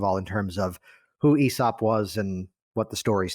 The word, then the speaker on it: Aesop: So while that's brewing in the background, and you corrected me on the pronunciation, so thank you for that, Aesop.